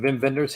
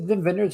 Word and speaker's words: Wim Wenders: But got some Vim Vendors here with Until the End of the World. Did I pronounce that right? Is it Vim Vendors or Wim Wenders? I think it's Vim.